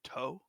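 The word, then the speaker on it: と: before we sat down it's pronounced toe in Japanese oh you're right it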